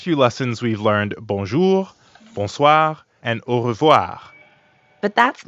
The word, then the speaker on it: bonsoir: We already know how to pronounce the first part, bon, because it's the same in bonjour. And the second part is soir. That means evening. Soir. The end sound is kind of like saying ah at the dentist.